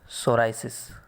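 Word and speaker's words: psoriasis: इसको इंग्लिश में लिखा जाता है सोराइसिस, ठीक है। ये P साइलेंट रहता है इसमें, ठीक है, SORIASIS, ठीक है, सोराइसिस P साइलेंट रहता है इसको।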